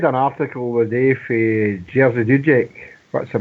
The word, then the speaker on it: Jerzy Dudek: Well, I read an article the day for Jerzy Dudek.